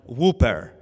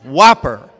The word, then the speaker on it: Whopper: counter my father says eh give me one whooper and my brother and i we died 10 000 deaths because it's like dad first of all it's not pronounced whooper it's pronounced whopper he said whooper but far worse this is